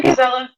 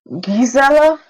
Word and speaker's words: Gizella: uh uh I yeah gizella g gizella like more more emphasis on the G a soft G soft G almost almost like a French